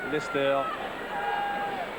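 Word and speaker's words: Leicester: son terrain devant Cardifester qui s'écrit leser mais qui se prononceer Lester comme mon petit enfant.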